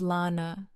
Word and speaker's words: Lana: "My name's Lana," she said. She pronounced it like Lorner, American as fast food.